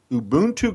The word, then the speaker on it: Ubuntu: website now first I want you Lenor to pronounce it for me ubon Global Ubuntu Global now I'm going to spell it because